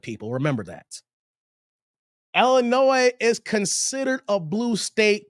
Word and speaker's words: Illinois: St I didn't say Illinois I said Illinois the S is Silent People remember that Illinois is considered a blue